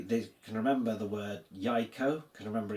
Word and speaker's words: jajko: Jajko. Jajko. Okay, the pronunciation there kind of as we expect it.